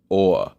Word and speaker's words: Awe: video by the channel Awe. Now, that's spelled AWE, as in, I had felt a sense of awe overlooking the Tweed caldera or something of that, to that effect.